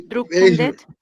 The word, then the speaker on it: beeindruckende: beeindruckende, Sí, que me equivoqué. Beeindruckende. Beeindruckende. beeindruckende, No, mira, esta palabra. Primero lees B, esta es la primera sílaba, okay, eindruckende.